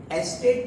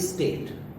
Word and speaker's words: estate: एस्टेट की spelling में ई भी लगा हुआ है. इट्स नॉट स्टेट. वो स्टेट तो राज्य हो गया, ठीक है, या स्थिति हो गई, बट दिस इज एस्टेट.